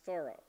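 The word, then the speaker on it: Thoreau: one of course was thorough I'm pronouncing it properly after 50 years of mispronouncing it the thorough society says it's to be pronounced thorough um his he writes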